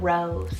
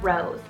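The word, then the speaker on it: Rowes: name on the boy side is the name rose spell r-o-w-e-s rose i love this as it's derived from the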